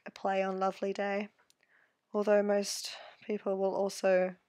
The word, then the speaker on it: LavilyDay: I've heard so many people say LavilyDay, which I can understand why they would say it like that, but it's just meant to sound like Lovely Day.